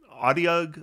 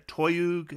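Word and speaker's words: otyugh: uh I picked an audiog or a toyuk I've heard it pronounced both ways as our enemy this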